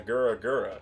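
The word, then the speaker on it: グラグラ: Like, it's the Goro Goro and the Gura Gura, right? That's how you say it in Japanese.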